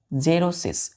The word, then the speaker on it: xerosis: देखिए हमारा जो फिफ्थ वर्ड है बच्चों वो है जेरोसिस। एक्स है तो एक्स का प्रोनाउंस कैसे करेंगे, जेरोसिस, जेरोसिस, XEROSIS, जेरोसिस पढ़ते हैं।